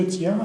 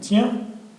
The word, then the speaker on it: tiens: je tiens, tu tiens, il tient, nous tenons, vous tenez, ils tiennent. كاينه في nous و vous هو اللي تيرجع للاصل ديالو. الاخرين كاينه يا I-E-N, ça prononce ien.